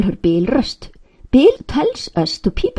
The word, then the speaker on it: Bifröst: Bifröst, pronounced Bifröst, by all means, not Bifrost, please. And keep the accent on the first syllable, as always in Icelandic.